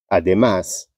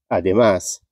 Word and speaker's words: además: aguda terminada em n además ademais uma palavra aguda terminada em S tá táxi táxi essa